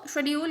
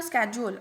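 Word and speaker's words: schedule: इसको शेड्यूल या स्केड्यूल आप जो चाहो प्रोनाउंस कर सकते हो।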